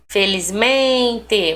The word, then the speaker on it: felizmente: Felizmente, men.